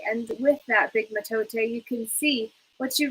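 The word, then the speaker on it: mitote: fog which the topics call in the total pronounced metote your mind is a dream where a thousand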